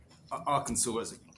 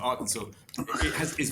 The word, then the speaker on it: Arkansas: Yeah, and then I mean, Arkansas is. Sorry, I didn't pronounce it quite right the first time, but Arkansas is very interesting.